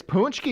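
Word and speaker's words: pączki: And They gave us punchkis. and the people of Mexico. Ponchkis. I like It's them punch. too. It is punchki, Shée.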